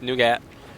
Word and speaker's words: Nougat: It's not Nugget. Nugget would be NU, so it's Nougat.